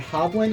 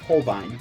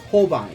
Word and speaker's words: Holbein: I've recently learned that hoblin is pronounced Holbein I've been pronouncing it as hoblin since day one of my job it's pronounced Holbein it's a German name but they're a Japanese company figure that out there